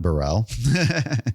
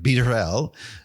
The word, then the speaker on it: Barelle: Um, now it's not Burell. It's like beerel.